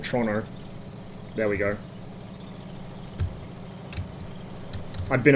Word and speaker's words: Toronto: see we'll see how we go stuck in Toronto roof sorry I need to use the correct pronunciation trono there we go I've been a foreigner for